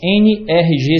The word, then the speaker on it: NRG: NRG a as letras n r g se a gente pronunciar em Inglês fica n r g que é exatamente a pronúncia da palavra em inglês energia então ele é um